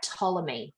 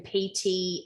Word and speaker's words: Ptolemy: 70 or 69 BC to the pharaoh, I'm going to try to pronounce this right, Ptolemy, but it's written Ptolemy. Okay. Yeah. I would suggest the P is silent. Yeah. Ptolemy, yes, I believe it is.